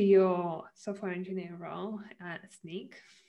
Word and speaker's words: Snyk: head back to your software engineer role at sneak said it right and um what do you